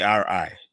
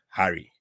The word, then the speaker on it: Ari: role in my having my last name should be ari but because somebody couldn't pronounce ari we end up with harry okay and um there